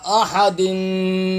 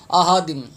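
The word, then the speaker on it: أحد: احد، ہا زبر ہا. یہاں پہ بھی اکثر حضرات ہا کی ادائیگی ٹھیک نہیں کرتے، یہ تلفظ بھی غلط پڑھتے ہیں. احادم، احادم، الف خالی کی آواز نکال دیں، یا حمزہ خالی کی آواز نکالتے ہیں.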